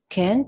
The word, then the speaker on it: can't: Can't, Yes. can't, ¿no? ¿No? Yeah, some people use it. Algunas personas lo pronuncian con T, pero generalmente los nativos no van a pronunciar la T.